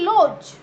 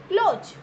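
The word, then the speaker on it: lodge: Then लॉज. लॉज, ओ लॉज, D again silent. ठीक है, LOGE, only these letters will be pronounced, not D. So D letter will remain silent here.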